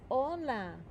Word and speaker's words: hola: It's kind of like in Spanish the word hello is hola. Hola. But we don't pronounce the H.